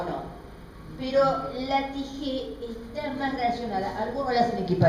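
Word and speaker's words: τύχη: Bueno, precisamente jamartía, él me está hablando de la tijé, T-Y, es la J que se traspasa como una CH y se pronuncia tijé.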